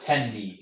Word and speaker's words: Tendi: It's pronounced like tendy, like chicken tender, but it's not short for chicken tender.